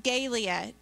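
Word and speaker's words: galea: so the name for the roman helmet is gaelia and you have that on your helmet or on your hand out there and it's spelled g-a-l-e-a and it's pronounced gaelia the helmet was made of iron and bronze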